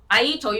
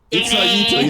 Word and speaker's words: Itzaito: Aito, you try to play smart, wrong. Is the wrong way, okay? Itzaito, yes. Itzaito is very similar to Enos.